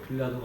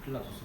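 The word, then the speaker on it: Pilatus: 수 있기 때문에 제 빌라도가 어떤 인물이었는지를 잠시 시 말씀드리고 싶니다데 우리가 이제 빌라도 기 하겠지만 아 정식 이름은 폰티우스 필라투스 아 이제 발음대로 하면 필라투스 그걸 이제 영어식 발음으로 하다 보니까 빌라도가 되고 뭐 이렇게든 건데 그는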